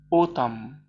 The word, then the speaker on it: autumn: column زي كلمة الخريف، اسمه إيه الخريف؟ autumn، برضو في كلمة autumn ما بننطقش الإن.